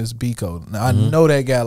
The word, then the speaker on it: Bekoe: name derived from steve biko and that original because spelled b-i-k-o mine's american knives which is b-e-k-o-e and they pronounce it differently in africa in africa i believe it's becca here we say biko so you